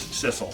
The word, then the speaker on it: Sissel: Our name is Sissel, which does rhyme with missile.